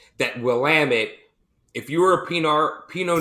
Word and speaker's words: Willamette: So if you ever want to know how to pronounce Willamette, it's Willamette, damn it.